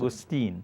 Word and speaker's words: mangosteen: Mangosteen. Mangosteen. Like mango and STWN.